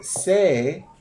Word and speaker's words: sais: So when savoir is linked with je, it becomes sais. S-A-I-S. That's how it's pronounced. No S on the end.